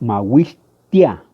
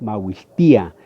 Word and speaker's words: mahuistía: También, por ejemplo, el mahuistía, tia, ahí vamos a encontrar que la i también lleva acento, entonces no es mahuistia, no, es mahuistía.